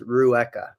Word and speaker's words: Rueca: say your last name yes so it is Rua okay Rua I would have messed that up so I'm glad I didn't try it h Rua um so te tell me a little